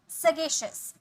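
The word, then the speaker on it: sagacious: विवेकशील, सगेशियस, सगेशियस, श नहीं, सगेशियस, सगेशियस, यहाँ पे श का साउंड आएगा, ठीक है, सगेशियस, श, ठीक है।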